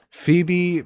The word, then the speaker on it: Phoebe: Phoebe, pronounced like the woman's name Phoebe, was designed with the needs of the heterosexual feederism community in mind.